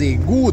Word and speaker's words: égouts: las alcantarillas de París Cómo se le pronuncia en francés bueno se le llama el mus des egu de París si egu quiere